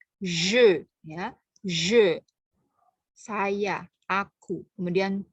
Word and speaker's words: je: Ya, pelafalnya, perhatikan pelafalannya ya, karena di bahasa Indonesia tidak ada pelafalan je. Ya, jadi lebih tebal, bukan ze tapi je.